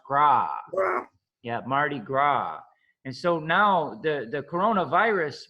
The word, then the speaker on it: Mardi Gras: So the festival that you talk about is in the French is Mardi Gras. So like we said, we don't pronounce the S in French. So gras is pronounced gras. Yeah, Mardi Gras.